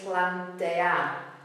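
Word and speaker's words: plantear: is Plante Plante um the ending is AR and that's where the beat goes but the E is also a a strong it's also a syllable it's a strong vow so it's Plante Plante it kind of means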